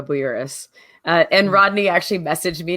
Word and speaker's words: Bouyouris: the industry okay so you did pronounce my name right is Erica Boras and Rodney actually messaged